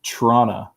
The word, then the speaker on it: Toronto: that's perfect cody hartsburg it's trauna toronto that's that's exactly how it's said okay yeah good go